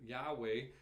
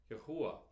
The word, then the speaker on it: Yahweh: Now, some people pronounce it Yahweh. I believe it's more properly pronounced Yahuwah.